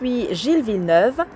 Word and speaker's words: Gilles Villeneuve: This race is held on the recently added circuit Gilliv or however you pronounce that. It is pronounced Jilv.